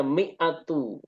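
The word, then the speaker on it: مئة: 100 ada angka 100 maka cara bacanya miatu dan ketika diidofahkan kepada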